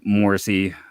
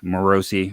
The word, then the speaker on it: Morosi: unfortunately it did not break their way John Morsi morosi I'm sorry and there's you know pronunciation issues uh hit me again uh he